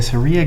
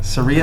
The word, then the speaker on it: Saria: how do you say I think it's like Saria like Maria Saria absolutely I'm going to go Seria and she hosts the